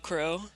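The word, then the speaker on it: Qrow: and then you have Kuro which is its CRO but it's spelled with a Q at the start because anime yeah my vic Mignogna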